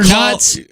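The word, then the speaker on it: Knuts: you just said well i said harry potter nuts oh that's what it's called i think so that's how i pronounced it when i read it and harry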